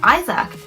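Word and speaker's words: Isack: Now, some of you may be noting, I am pronouncing his name Isaac because that's how it's said. It's one of my pet peeves. When everyone's like, it's Isaac.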